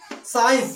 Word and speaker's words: science: साइंस, साइंस means होता है विज्ञान। यहां पर सी का कोई उच्चारण नहीं है।